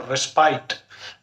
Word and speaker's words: respite: So Arjuna took a short rest, respite, R-E-S-P-I-T, respite or respite, but the correct pronunciation is respite.